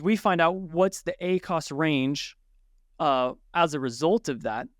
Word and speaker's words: ACOS: say it doesn't because the accent is different ACOS accent on the first syllable ACOTS accent on the second syllable to really emphasize that "T" um because it's the